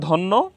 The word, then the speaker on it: ধন্য: আমরা সহজভাবে বলতে পারি শব্দের শেষে যে বর্ণের সাথে জ ফালা আসবে জ ফালা সংযুক্ত হবে সেই বর্ণের উচ্চারণ দুইবার করতে হবে তো আমরা এখানে মধ্য উচ্চারণ রীতি মধ্য বানান রীতিতে ধন্য উচ্চারণ রীতিতে ধন্য বানান